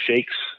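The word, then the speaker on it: shaykh: yeah there's another definition you've heard of these terms called shakes or shakes it's spell s ha a y k h M or S he i k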